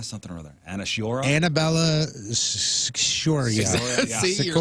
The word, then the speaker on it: Annabella Sciorra: Annabella Sciorra. See, you're like, Sciorra. Sciorra. Shora. Shiora.